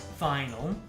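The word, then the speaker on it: Fienal: spelled phenyl pronounced final.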